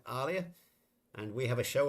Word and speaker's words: Aaliyah: Aaliyah, we're going to say it correctly now. Aaliyah, not Aaliyah.